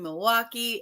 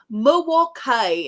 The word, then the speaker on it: Milwaukee: knowing she knows that you don't pronounce the L and it's moal Kai and I was like